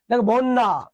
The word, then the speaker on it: বন্যা: okay fine এবার দেখেন শব্দের মাঝে শেষে যদি জ ফলা থাকে সেটা নিজে উচ্চারিত হবে না কিন্তু যে ধ্বনির সঙ্গে থাকবে তাকে দত্ত করবে দত্ত মানে কি বলতো দুইবার উচ্চারণ বন্যা দেখতো নতে জ ফলা